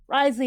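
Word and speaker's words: Wriothesley: And now we go to Ridesley. Ridesley is how you say his name.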